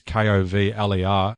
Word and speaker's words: Kovler: Yeah, in that case, it's definitely not Culver, as we've pronounced it every single time that we've said his name.